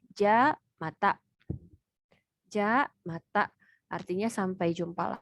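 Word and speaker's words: じゃまた: Yang pertama ini dibacanya ja mata.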